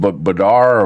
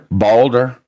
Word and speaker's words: Balder: Harold Badar or Barder? Balder. Harold Balder.